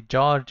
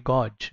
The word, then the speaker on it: gorge: bridge iron bridge and this is not going to be george it's going to be gorge okay and this is